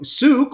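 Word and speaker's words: Sooke: shelley's watching from uh suk suke rhymes with duke british columbia canada it's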